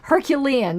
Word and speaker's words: Herculean: know me and words I can never pronounce this word it's Hercules but it's Herculean Herculean there we go task